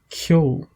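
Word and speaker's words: ceol: Le C, quand le C est une consonne fine, je prononce comme s'il y avait un Y après le C. Donc, je prononce kia, comme dans le mot kyo, qui signifie musique.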